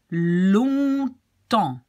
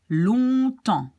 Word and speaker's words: longtemps: Longtemps. So you have the on and the en. Longtemps.